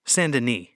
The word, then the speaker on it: Saint Denis: of her personal heroes, Saint Denis, or, in the more popular French pronunciation, Saint Denis.